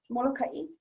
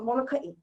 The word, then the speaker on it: Molokai: I was taught Molokai, but I'm not going to say that's set in stone and I'm the expert on all things, but for today's purpose, we'll pronounce the two, okay? So Molokai, Molokai.